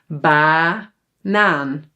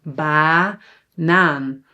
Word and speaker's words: banaan: banaan So, the first a is actually an a because it's open. banaan muziek muziek, zomer So, repeat again after me. banaan zomer muziek Very very very good.